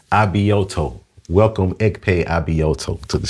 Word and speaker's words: Abioto: Abioto. Abioto.